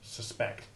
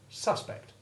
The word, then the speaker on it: suspect: its abbreviated form bus similarly we have the short u2 iv sound in the first syllable of the verbs sustain and suspect but when that syllable